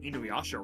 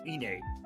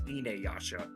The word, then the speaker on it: Inuyasha: Apparently, we've been pronouncing Inuyasha wrong this whole time. It's Ine. Despite being spelled with a U, it's an A. It's Inuyasha.